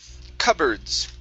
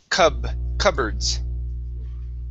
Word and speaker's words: cupboards: And the last word for you is cupboards. Okay, the P here is silent. Cupboards.